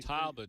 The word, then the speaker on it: catalpa: Okay, it's spelled C-A-T-A-L-P-A. Yeah. I'm just the old timers and what he said, and the old timers in Kentucky, they call it catawba tree, catawba worm.